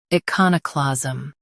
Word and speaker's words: iconoclasm: U.S. stress ka. UK con is softer. Iconoclasm.